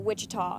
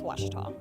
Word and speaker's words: Ouachita: Back in Texas, everybody pronounces it Wichita, but really it's Ouachita.